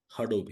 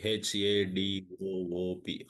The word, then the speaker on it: Hadoop: How do you pronounce that? Hadoop. H A D O O P Hadoop Hoop.